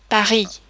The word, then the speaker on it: Paris: When consonants occur at the end of a word, they are normally not pronounced. For example, Paris.